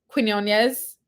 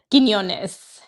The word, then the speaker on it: Quiñones: KK Arnold has been a little bit more aggressive and looking to score more often as well as Blanca Quinones. Am I saying it right? Quiñones.